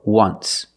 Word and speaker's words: once: once but you say there's an o in once that's a vowel but phonetically it's not a vow phonetically it makes the sound ww like a w w w once so phonetically the t